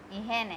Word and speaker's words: higiene: ihene. H is silent in Spanish.